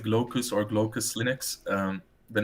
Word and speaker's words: Glaucus: So it's pronounced Glaucus or Glaucus Linux.